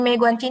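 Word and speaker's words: 没关系: Untuk yang di Meguanci ini, yang di E nada? Nada 2. Nada 2, betul. Yang di A nada? Nada 1. Oke.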